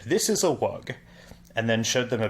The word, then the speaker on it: wug: little blue bird and said, "This is a wug." And then showed them a picture of two of these bluebirds and said, "This is another one." Now there are two of them. There are two... Wugs.